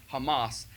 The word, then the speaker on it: Hamas: from a prepared text ben Carson repeatedly pronounced the name of the Palestinian group Hamas as if it were a delicious spread made with chickpeas the performance of these